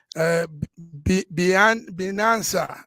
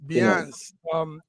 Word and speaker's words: Binance: Binanza, I don't know how you pronounce that word. Update, yes, Binance.